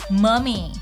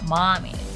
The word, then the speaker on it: mummy: Trick or treat, zombie, goblin, mummy, not mommy, costume, haunted house, witch like a witch, cauldron, and creepy guy who gives us an eerie feeling.